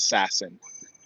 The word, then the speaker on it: SASN: The Assassin, SASN. We pronounce it Sassin.